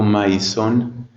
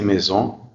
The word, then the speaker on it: maison: Si estoy empezando a aprender francés y digo maison, entonces no se dice así, se dice maison.